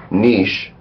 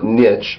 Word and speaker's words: niche: Main entry, niche pronunciation. Niche, also niche, also niche.